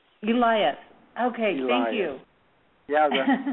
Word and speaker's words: Elias: The way you pronounce my last name is Elias. Elias.